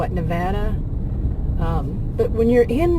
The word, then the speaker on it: Nevada: And the way people pronounce even states, like I think we always call it Nevada, and it's Nevada.